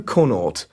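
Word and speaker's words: Connaught: details what's your full name it's conut that's spelled c o n n a u g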